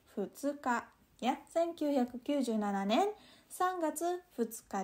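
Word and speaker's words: 二日: Terus, ini dibacanya hati-hati jangan sampai salah, bukan ninichi, tapi futsuka.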